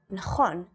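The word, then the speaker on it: נכון: And in the word for correct, which is nachon, it makes a ch sound.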